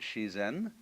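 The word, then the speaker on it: 自然: This is and so this word means nature or the Japanese pronounce it shien uh is roughly when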